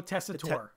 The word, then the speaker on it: Tessitore: But I don't know how to pronounce his name. What is Joe? Joe Tessitore. Joe Tessitore.